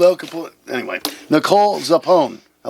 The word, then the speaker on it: Zappone: So it's Zappone, like Capone. Yeah, like Al Capone.